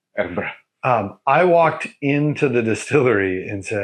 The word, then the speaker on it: Edinburgh: Of course, I don't say Edinburgh. Edinburgh.